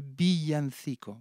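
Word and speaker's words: villancico: И вот эти песни называются «Биянсико». По-испански «вилла» — это «бия». Вот, двойная «л» читается как и краткая.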